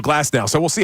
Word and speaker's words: Glasnow: Aaron Nola on the mound against right-hander, I don't want to say his name wrong again. Glasnow. I'm going to be in Scotland saying Glasgow. So Glasnow.